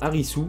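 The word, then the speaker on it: Arisu: à la VS mais Harry su est Alice avec la prononciation à la japonaise bien sûr donc alice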